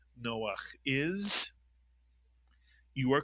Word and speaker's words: Noach: The first syllable is no, the second syllable is ach. Put the word together. Noach is correct.